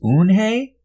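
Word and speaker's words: Unhei: Kim and then turned to Joey she nodded slowly yes it's pronounced moon Hey it means grace mr. Kim added Yoon Hey Joey said slowly this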